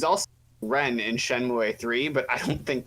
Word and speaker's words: Shenmue: something the other day uh it is not pronounced shenmue it's actually pronounced shenmue that's kind of gross i know like i